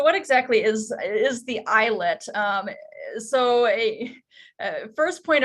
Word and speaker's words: islet: of like islip but it actually is pronounced eyelet and we oftentimes will